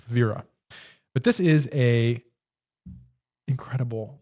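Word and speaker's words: Wera: But it's pronounced Vera. Oh, it's nice and backwards for you, I think, in in German, but it's not Wira. It's Vera.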